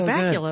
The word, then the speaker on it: Bakula: You know, Scott Bakula, of course, rhymes with Butt Cracula.